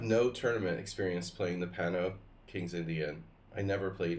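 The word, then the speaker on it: Panno: Did I say Panov? Pano. You know, like Oscar Pano, the Argentine Grandmaster?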